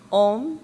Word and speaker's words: Om: And actually, even if they spell it Om, it is sounded out A-U-M, because it starts at the back of your mouth and goes around.